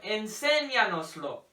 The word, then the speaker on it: enséñanoslo: So for example, you have enséñanoslo. 1, 2, 3, 4. So it's on the enséñanoslo. The accent comes on the E.